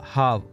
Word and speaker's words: half: सो हाफ, इसे हाफ pronounce करते हैं यानी किसी भी स्थिति में हम लाभ को आधा कर सकते हैं।